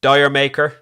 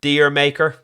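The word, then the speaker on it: D'yer Mak'er: Track number six has been pronounced many different ways. Dire Maker, Deer Maker, or possibly Jer Maker.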